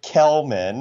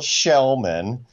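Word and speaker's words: Kellman: If you read his name, it's Joel Kelman. Thank you. But the correct Swedish pronunciation is Joel Shellman. So yeah, Joel Shellman.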